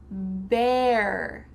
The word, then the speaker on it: bear: Bear. Bear. Beer. Bear. This is the animal. Bear means no clothes. Beer is the drink. Bear, bear. Those first two words are pronounced the same.